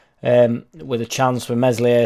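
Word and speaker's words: Meslier: with a chance for mesli a silent s had a good save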